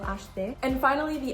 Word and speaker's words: acheter: The next H is combined with C, so this is going to be the sh sound, acheter. And notice that the E is not pronounced in the middle of acheter.